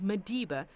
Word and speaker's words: Maliba: Maliba here is pronounced Madiba, a Sesotho word meaning water.